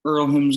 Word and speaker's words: Earlham: Well, I just want to know how Cal or coaching over at Earlham's going, or is that how you say it? The H is silent.